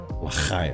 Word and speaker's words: L'chaim: But it's l'chaim. Yeah. I think to speak good Jewish, you have to do that. There is a lot of Yeah. hack and loogies. Yeah. Um, L'chaim.